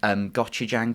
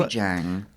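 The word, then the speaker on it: 고추장: It's a lovely woman who made a recipe for a very quick, creamy pasta, but it was flavoured with gochujang paste.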